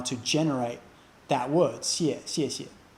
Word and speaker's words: 谢谢: That SY sound, 谢谢, that we use to pronounce the X in the pinyin of 谢, that doesn't really have an analog in English. It's just something you have to learn and get exposed to and listen to 10 or 20 or